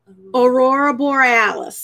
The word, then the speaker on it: aurora borealis: as how do you say it correctly aurora aurora borealis there you go okay so that or oral